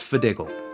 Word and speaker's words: FDGL: Hi, my name is FDGL, pronounced Fidiggle.